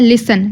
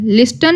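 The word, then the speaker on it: listen: T silent देखते हैं लिसन लिस्टन नहीं बोला जाएगा लिसन बोला जाएगा कैसे बोला जाएगा लिसन टी साइलेंट है लिखने लिखने में आएगा बट बोलने में नहीं टंग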